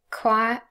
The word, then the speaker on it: choir: plus schwa and again here in choi there is no dot no period mark to show a syllable boundary because this word is really just one syllable and then ireland of